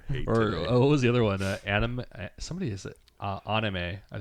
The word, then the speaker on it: anime: Anime. Somebody is it anime? I think I heard people say anime. Anime. Oh. Yeah, because anime is short for animation, which is an English word.